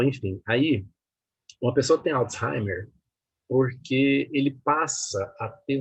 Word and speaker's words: Alzheimer: Não é Alzheimer, não. Não, eu sempre falei Alzheimer. Pois é, mas a pronúncia está errada. Sabia? É Alzheimer.